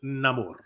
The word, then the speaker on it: Namor: Latino a Latino character his name is Namor with a rolled R and everything yeah they did a